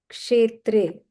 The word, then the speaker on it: Kshetre: This yes or with a dot below, if you see, it is this sha. If you know the Devanagari script. Otherwise, it's pronounced as S and H, as shirt. Kshetre, Kurukshetre, Samaveta, Yuyutsavaha, Mamakaha.